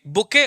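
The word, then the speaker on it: bouquet: correct choice a lovely बुके of flowers इसको बुके पढ़ते हैं बट लिखते ऐसे हैं ध्यान रखिएगा चलो नंबर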